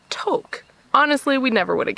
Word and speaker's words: Tok: The bad news is, apparently, for the past how many years, we've actually been saying Tok wrong. The correct pronunciation, which we learned last night, is Tok.